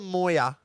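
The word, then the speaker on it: Moir: this is the shortest and it's called the Moya and it's spelled m-o-i-r Moya it's after a person yeah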